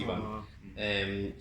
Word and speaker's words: Ivan: It's written Ivan, but it's pronounced Ivan.